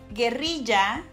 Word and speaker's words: guerrilla: So when I first heard Americans saying the word guerrilla, I thought that they were saying gorila. En español, guerrilla se pronuncia así. It's pronounced like this. Con la R del diablo. With that devilish R.